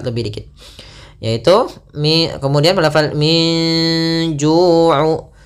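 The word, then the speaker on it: من جوع: Di sini ada bacaan ikhfa, yaitu adanya nun sukun bertemu dengan huruf jim. Maka cara membacanya samarkan antara baina izhar wal idgham. Jadi membaca ikhfa itu di antara izhar dan idgham. Kalau izhar nunnya jelas, kalau idgham nunnya hilang, maka ikhfa di antara keduanya.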